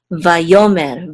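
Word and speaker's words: וַיֹּאמֶר: So this is mer, vayomer, vayomer, which means and he spoke.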